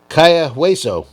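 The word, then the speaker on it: Cayo Hueso: Kaya-Hueso.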